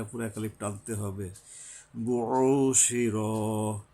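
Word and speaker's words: بُعْثِرَ: বুশির, বু, এরপরে এই যে আইন আসছে, গলা চেপে, বুশির, শির পরে আবার র, এখানে আকার হবে না, শিরা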